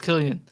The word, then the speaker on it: Cillian: I found it's pronounced Killian.